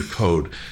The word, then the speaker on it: Coad: for a programmer right wasn't spelled c I think it was coad or something like that but he pronounced it Peter code um he was the